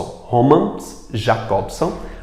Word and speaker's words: Roman Jakobson: da linguagem romances jakobson Roman jakobson que é essa pronúncia dele é teorizou sobre o